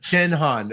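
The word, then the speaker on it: Jin Hahn: name correctly Dr Han people call me Jen the first syllable of my first name because that's easier to pronounce and it's sort of reminds them of a cocktail I guess so Jen hon okay great and see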